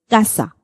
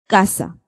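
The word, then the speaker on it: casa: at one example now when C comes in front of a it carries the k sound you can say that the heart sound heart C in this case we're going to pronounce this word as Kasa Kasa okay understood the difference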